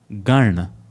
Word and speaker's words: Gana: But for the first line, it is Jana Gana. The na in Jana and na in Gana are distinctly different.